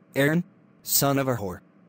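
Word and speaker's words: Aaron: Iran you better be sick dead or mute ay-ay-ron here oh man why didn't you answer me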